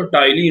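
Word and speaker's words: ptyalin: अगर टाइलिन को इंग्लिश में लिखना है तो इस तरह से लिखा जाता है, पी यहाँ पर क्या होता है, साइलेंट होता है, तो टाइलिन होता है।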